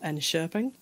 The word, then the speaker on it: Enköping: So, for example, I know that some of the barley comes from a town called Enköping, which I think is actually how you pronounce that. Yeah. It's absolutely not how it looks written down.